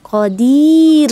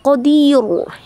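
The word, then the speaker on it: قدير: pada huruf Dal ya jadi dia harus tipis Qodir gitu jadi bacanya Dir nah jangan dirubah-rubah e posisi mulutnya Qodir Qodir gitu ya jadi itu tarq ya dibaca tipis Jangan dibaca Qadir ya kalau itu ada lagi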